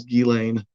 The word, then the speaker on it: Ghislaine: But a lot people say Ghislaine, or Ghislaine, or Ghislaine. But I'm positive the correct French pronunciation is Ghislaine.